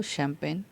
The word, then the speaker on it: champagne: शैम्पेन की spelling CHAMPAGNE, यही शैम्पेन की स्पेलिंग है, इसी को शैम्पेन पढ़ा जाता है।